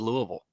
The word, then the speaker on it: Louisville: to jump over with Louisville that wait they they I keep mispronouncing it uh comment section told us it's Louisville not the live chat